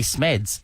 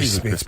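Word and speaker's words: Smedts: So, Not On This Day in 2013, Geelong players Billy Smeds and Josh Caddy, who went on to play for Richmond in Premiership and recently retired. It's Billy Smits, by the way.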